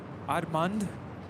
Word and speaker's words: Admund: Allison and Admund. Apparently that's how you pronounce his name, by the way. Admund.